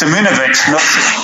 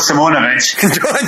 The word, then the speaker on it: Simonovic: Well, first thing is Simonovic, not Simonovic.